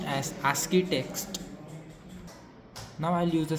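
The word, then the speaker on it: ASCII: name so it is SC text which is pronounced as aski text now I'll use the stat command to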